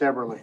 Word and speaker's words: Eberly: It's Everly. Eberly. All right. I have a friend that's spelled the exact same way and he says Eberly. I know.